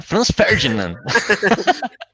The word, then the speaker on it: Franz Ferdinand: Meu, que prazer enorme participar aqui do Esfarelados e ainda para falar de Franz Ferdinand. Olha aí, já me corrigindo na pronúncia, né? Franz Ferdinand. É isso mesmo.